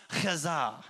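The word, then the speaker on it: חזה: It's pronounced chazah. You got to put some phlegm in it.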